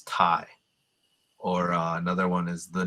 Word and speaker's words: Thai: They spell it with a TH, so it's Thai.